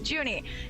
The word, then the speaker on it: Junie: I err toward Uni because Uni is how you say June in German, and I'm like kind of learning German, so that is why I keep calling him Uni. I apologize, it is Junie.